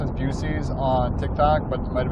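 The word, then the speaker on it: Buc-ee's: Have you been to a Buc-ees?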